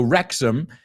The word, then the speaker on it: Wrexham: Now, Americans, a lot of time, we pronounce that ending ham, like you guys, Tottenham. But it's Tottenham.